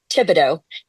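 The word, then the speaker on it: Thibodeaux: Well, I'm gonna guess, Stuart, that he pronounces his last name Tibido and that it's T H I B O D E A U X.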